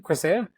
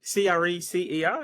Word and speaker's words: Crescer: Crecer, is that right? Yeah, Crescer?